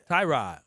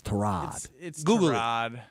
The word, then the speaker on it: Tyrod: right Trod Taylor Tyrod I think it's Trod it's Tyrod Tyrod Taylor